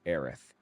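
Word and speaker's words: Aerith: I T H and pronounced kind of like Earth. They tried to link her name with her personality. I'm used to pronouncing that Aerys, too, but I'll draw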